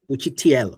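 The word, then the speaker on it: учитель: Now look, it is not the normal English tell, but TL. Uchitelь.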